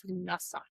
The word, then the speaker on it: Lughnasadh: I finally looked it up to make sure, because I don't think I was pronouncing it right. It's Lughnasadh.